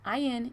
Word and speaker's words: Indelible: vendor called indelible sorry it's i-n-d-e-l-i-b-l-e which is pronounced indelible who was hired by